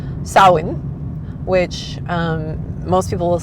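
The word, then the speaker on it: Samhain: we are used to, it is not pronounced Sam Hayne. It is pronounced sawin which um most people will say sa s o w like yay I win.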